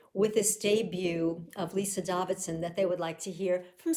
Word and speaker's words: Davidsen: a vice of and Lisa David's Davidson as I hear she is her name is pronounced so every year when